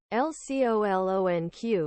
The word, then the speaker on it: LCOLONQ: it's quite simple really l-c-o-l-o-n-q is pronounced L colon Q oh geez like saying the letter L then colon and finally the letter q but I like to